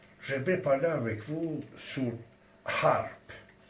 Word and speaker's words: HAARP: parler avec vous sur harpe. H ou H, comme on écrit en français, on le prononce A, on ne le prononce pas H, H.